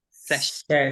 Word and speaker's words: session: Session. Session. Session. Session. Con las consonantes juntas como sh, esta SS hace un sh. Entonces, apretamos literal la boca y hacemos session.